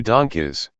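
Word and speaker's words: DONGKIZ: doesn't make sense 2 donkeys donkeys is certainly not the worst name on this list but some fans find it funny that it's pronounced like the word donkeys which isn't something a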